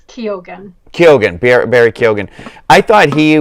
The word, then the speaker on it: Keoghan: I think it's Keoghan.